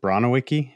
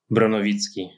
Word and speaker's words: Bronowicki: talking to uh is it brono Wiki is that how you pronounced your last name yeah that's how most people said it in Canada close enough okay how uh how would you say your name in Polish yeah brovitz brovitz okay that's not bad yeah